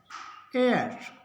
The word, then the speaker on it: heir: एच के बाद ओ है तो ओ का उच्चारण होगा, इसको पढ़ेंगे ऑनर। ये कुछ वर्ड है, इनको याद करना पड़ेगा। Honour, HEIR, एयर, HOUR, आवर, आवर। एच नहीं पढ़ा जाएगा, इसको पढ़ेंगे ऑनर, एयर, आवर।